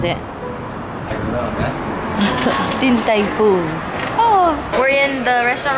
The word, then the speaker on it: Din Tai Fung: How do you pronounce it? Din Tai Fung.